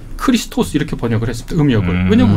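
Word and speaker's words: Χριστός: 건 고대 이제 그리스어음 그리스어로는 크리스토스 아고 크리스토스 크리스토스 이렇게 발음합니다 그 말을 아 포르투갈이나이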